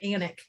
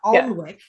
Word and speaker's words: Alnwick: It's kind of like, or there's like, you know, silent letter like Anik. You know, it's not Alnwick.